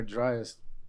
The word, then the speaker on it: Younger Dryas: It's actually I think it's pronounced the younger driest.